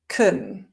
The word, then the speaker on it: can: So one thing to bear in mind is that with can, it's actually pronounced kun most of the time when we're not emphasizing it.